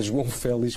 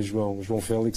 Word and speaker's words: João Félix: desta época, João Félix, conforme se queira com a pronúncia, ou ouço uma coisa de várias maneiras, parece-me que correto a João Félix, que se diz mesmo, mas aceito que se diga João Félix, sem nenhum tipo de problema.